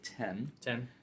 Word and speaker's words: iPhone X: you read it it's it's written as iPhone X but as a lot of Apple products have been over the past years they pronounced it 10/10 so we got to